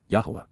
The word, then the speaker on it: Yahweh: Yahweh. Yahweh. The proper pronunciation of the name of Hiloah, God, as directed in his Torah.